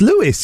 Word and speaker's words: Lewis: That's Louis, isn't it? No, it's it's pronounced Lewis.